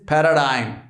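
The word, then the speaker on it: paradigm: word is पैराडाइम now mark not only the spelling but the pronunciation as well it इज पैराडाइम एंड पैराडाइम का मतलब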